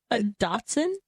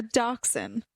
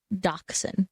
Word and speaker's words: dachshund: A Dotson? No, Or a it said dash out. dash out. And I was like, a Dotson? A dachshund. Doc? Like with a K? Doc, yes. Dachshund.